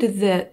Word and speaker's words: the: Обязательно, где T и H, язычок остренький. The, the, the, the.